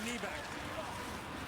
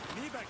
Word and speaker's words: Nybeck: Nybeck digging for the rebound. It was out of his reach. Nybeck, by the way, is N-Y-B-E-C-K. In Swedish, N-Y is knee, like Nylander.